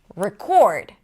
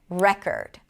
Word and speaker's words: record: If it's a noun, the stress is going to be on the first syllable. Present. Convict, convict, record, record.